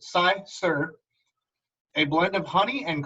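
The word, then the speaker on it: cyser: Sizer is a noun, pronounced Sizer, a blend of honey and crisp apples fermented together.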